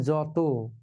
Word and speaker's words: যত: আমরা লিখি যত কিন্তু উচ্চারণ হবে যত।